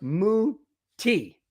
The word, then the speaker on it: Mutai: Madungus says I pronounce Mutai wrong. It's pronounced Muti. Muti, like the drink.